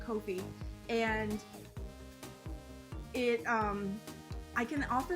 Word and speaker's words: Ko-fi: It's spelled 𝗀𝗲𝘁. That's why I'm saying Ko-fi, and it I can offer them there at